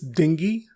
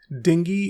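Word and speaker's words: dengue: Next is डेंगी। यस, the correct pronunciation of this word is डेंगी एंड नॉट डेंगू।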